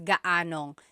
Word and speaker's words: gaanong: And then just a pronunciation tip, if you happen to see gaano ang something, it's usually put together and it's gaanong. So gaanong katangkad ang anak mo?